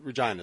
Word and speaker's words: Regina: Saskatchewan Regina Arbor John Regina is how you pronounce it right yeah Regina is that we pronounce Barbra Jean is just